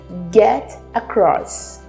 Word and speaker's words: get across: O primeiro é get across. Get across. Termina com T, American accent, a gente vai dizer get across.